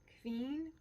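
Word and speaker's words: Qveen: how you pronounce it Queen it's like Queen but instead of a double I mean a u it's a v q v e e n partners in crime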